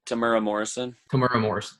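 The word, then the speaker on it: Temuera Morrison: Tamura Morrison.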